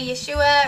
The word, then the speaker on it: Yeshua: ways some people say Yeshua or some people say yhoshua or some form of that but the point here